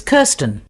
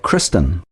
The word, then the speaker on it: Kirsten: it's Kirsten. Was that Kristen? No, I'll spell it for you.